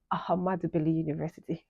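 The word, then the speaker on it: Ahmadu Bello University: Ahmad Bello University, Zaria. Yes, that's the correct pronunciation.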